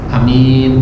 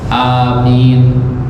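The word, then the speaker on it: آمين: Wa fihi lughatan, dan cara bacanya ada dua. Yang pertama al-qasru, hamzahnya pendek Pak, amin, itu boleh. Yang kedua wal mad, ya, hamzahnya dibaca panjang, amin.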